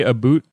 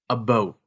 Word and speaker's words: about: Americans have it wrong when it comes to the what the pronunciation is. Uh-oh. It's more like a boot is what you say when you make fun of it, but it's more like a boat.